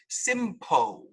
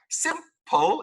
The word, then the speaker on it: simple: For example, this word is not pronounced simpo. This is not example. This is not beautiful. All right? Simple, example, beautiful.